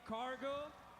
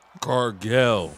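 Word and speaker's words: Cargill: She's here and she's champion Jade Cargo Carell. mispronounced. Cargo is Carell. Get it right.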